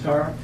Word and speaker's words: Tarr: And for the record, I'm State Senator Bruce Tarr. Tarr is in paving.